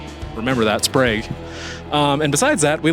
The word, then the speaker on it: Sprague: We learned that it's actually pronounced Sprag. Sprag. Remember that. Sprag.